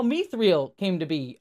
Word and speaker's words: Mithril: And they have this big moment, it's like, no, it's actually pronounced Mithril in Elven.